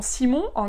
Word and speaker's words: Simon: moyens quoi simon pareil le prénom simon en allemand ça se dit simone donc ça fait un peu simone quoi et la fille